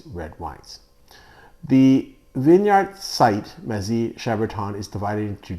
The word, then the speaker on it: Mazis-Chambertin: I used to pronounce it Mazis-Chambertin, which is not correct. In French, the S is silent and the I is sometimes like an E, so Mazy-Chambertin is, I believe, the correct pronunciation of this region.